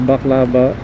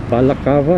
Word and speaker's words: balaclava: Or by the way, I decided to wear just the baklava, the balaclava, I think they pronounce it. I keep calling it baklava.